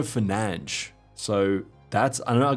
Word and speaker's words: Fernandes: And Fernandez, is it pronounced? It's pronounced Bruno Fernandes.